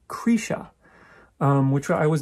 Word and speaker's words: Krisha: be kind of uh i think they they mostly pronounce it cretia which is a little i'm used to saying krisha i you know i